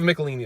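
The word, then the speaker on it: Michelinie: in or Mitchell and everyone say is they've Nicolini that's how you say it definitely need with John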